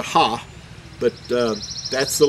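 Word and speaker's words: ה: The second letter is what we refer to, is the second letter here, is in modern Hebrew is referred to as a He, but in ancient Hebrew you would pronounce it as a Ha.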